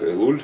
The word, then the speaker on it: Элул: Новомесячие этого месяца, который обычно произносится как Элуль у нас.